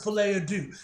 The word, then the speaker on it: Folie à Deux: anyway in that video he mentioned the fullterm filet ad do and I was like oh that's how it's pronounced but yeah man honest now you guys